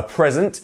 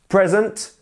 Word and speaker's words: present: you a present and once again our word stress is on pre present present and then as we have the verb we have um present present and you see the E changes its sound here it becomes more of